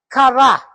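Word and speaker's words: χαρά: So that is the pronunciation of the word is kara that is also where we get karice related to the word karice.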